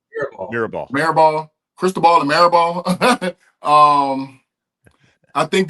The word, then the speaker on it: Mirabal: How you say his name? Mirabal.